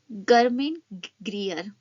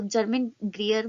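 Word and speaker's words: Germaine Greer: गर्मिन ग्रियर, ठीक है, तो इसको जर्मिन ग्रियर भी कर सकते हैं प्रोनाउंस।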